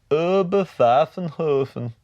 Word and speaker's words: Oberpfaffenhofen: I think it's pronounced Oberpfaffenhofen.